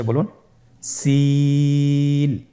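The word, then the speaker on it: سين: বাকি দুইটি হরফ নাম হল সিন এবংশিন সিন এবংশিন সিন হরফটি উচ্চারণ ক্ষেত্রে অবশ্যই তিন আলিফ টেনে পড়তে হবে সিন হরফটি বারিক হরফ পাতলা করে উচ্চারণ করতে হবে তাহলে আমার সাথে বলুন সিন আবার বলুন সিন মাশআল্লাহ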